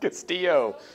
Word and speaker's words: Castillo: How do you say that? Castillo. Double L makes a Y sound.